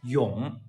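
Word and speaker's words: 永: It's one Chinese character, and it reads yong.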